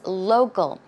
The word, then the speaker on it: local: Actually, the C in this case, it's more of a g, g sound.